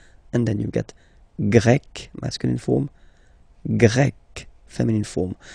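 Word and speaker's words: grec: and then you've got GRE masculine form GRE feminine form you write them differently but then if you listen carefully gre gre you pronounce them the same way okay Portugal portug portuges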